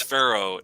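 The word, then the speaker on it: Faroe: alert that's for sure farrell islands no it's pharaoh f-a-r-o-e pharaoh island sounds like pharaoh egypt but it's spelled different well hold on let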